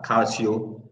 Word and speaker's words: Calcio: I also have Kathleen Arthur, who is the CEO of the Euro Africa Calcio. How is the pronunciation?